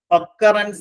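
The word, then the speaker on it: occurrence: ആർ ഇ എൻ സി ഒക്കറൻസ് എന്നാണ് അതിന്റെ ഉച്ചാരണം ഒക്കറൻസ് എന്ന് പറഞ്ഞാൽ ഒക്കർ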